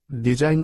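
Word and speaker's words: design: চুম্বিয়ে nail অর্থ ছোট ওয়ার্ডের শেষে আই জি এন থাকলে তার উচ্চারণ আইন হয় এক্ষেত্রে জি অনুচ্চারিত থাকে উদাহরণ ডিজাইন অর্থ আঁকা রিজাইন অর্থ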